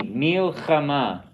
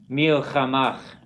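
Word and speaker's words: מלחמה: We have to distinguish them. We don't say milchamach, or there's a tendency to kind of match them up, or milhama. It's milchama.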